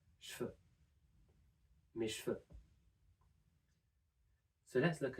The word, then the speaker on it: cheveux: So what we're going to do is we're also going to devoice the V sound in the middle and make it a F. So we can pronounce cheveux as cheveux.